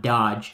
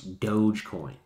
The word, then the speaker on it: Dogecoin: Here's Dogecoin, D-O-G-E, Dogecoin. Sorry, not Dodge, it's Dogecoin.